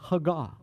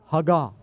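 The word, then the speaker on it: הגה: Meditate comes from the Hebrew word hagah. Everybody say that. Hagah. Hagah. The syllabus, the emphasis is always on the last syllable.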